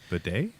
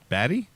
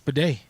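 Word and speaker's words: Badie: 10-yard plus runs within that structure, and Tyler Bidet had a 7-yard long. So to Mike's point or Illy's point, yeah. Bidet? Yeah, that's how you say his name. Batty? No, it's Bidet.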